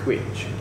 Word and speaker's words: cwtch: It's Quitch. Quitch. It's spelled CWTCH.